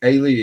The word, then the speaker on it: Aoife: Ailey, is that how I'm pronouncing it right? Ailey, yeah.